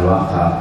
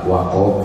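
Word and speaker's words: وقف: Umpamanya wakaf, bukan wakaf, wakof bahasa Arab bukan wakaf. Tapi kadang-kadang kita jadi wakaf, padahal wakof bukan wakaf.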